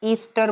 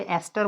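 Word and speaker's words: ester: इसका नाम एस्ट ईस्टर बोलते हैं और उसे एस्टर बोलते हैं प्रोनाउंसिएशन में एस्टर।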